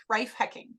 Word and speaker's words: Reiff-Hekking: life and hecking like oh heck. Reiff-Hekking. There you go. Reiff-Hekking, Reiff-Hekking, who You is got it.